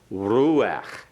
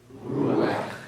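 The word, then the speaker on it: רוח: Ruach. Ruach. We had that before, pronouncing it as a single syllable. Remember, it's a PATHACH FURTIVE under the guttural at the end.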